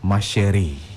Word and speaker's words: Ma Chérie: Yeah, no, you didn't pronounce it. What's it called? Ma Chérie. Ma Chérie. Yeah. Yeah. It's just French, you know.